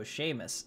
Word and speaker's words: Seamus: pronounce as if the EU was an age so Seamus ah ah the wee baby the wee baby